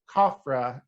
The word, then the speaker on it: Khafra: And it mentioned the pharaoh Khafra, I believe is how you say it.